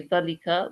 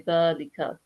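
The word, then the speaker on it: ذلك: this the is long, but we're supposed to pronounce that the as long. Okay, we don't say dhalika, we say dhalika, dhalika.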